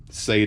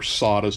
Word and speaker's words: SATA: shipped with the sadas sorry I know SATA is the correct pronunciation but they were sawas to me for a long time so you'll probably hear me call it both any Allen key is